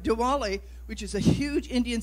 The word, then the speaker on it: Diwali: It's Darwili. It's a, or Diwali, I'm sorry, at least I can do is say it right. Diwali, which is a huge Indian celebration, so come and be part of that festivity.